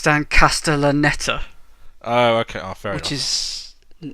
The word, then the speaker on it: Dan Castellaneta: feeling them while in case I also can't pronounce his name it Stan Kasten they're not neither could i it's dan Castellaneta oh ok after it is no I he